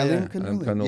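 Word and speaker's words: Alimkhanuly: Yeah, Alim Kanuli.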